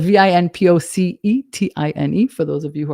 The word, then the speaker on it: vinpocetine: Another supplement that you may not have heard of is called vinpocetine. It's spelled Vinpocetine for those of you who are listening.